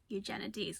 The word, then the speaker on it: Eugenides: recording Beauty and days it's eugenities eugenides nuts stop it this